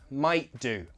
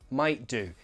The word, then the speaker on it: might do: Might do, might do. I glottalize that T, might do.